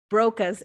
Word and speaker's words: Broca: Broca's area. How do you spell it? B-R-O-C-U-S? Broca.